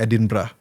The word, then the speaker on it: Edinburgh: Jadi di kota namanya Edinburgh, bacanya Edinburgh.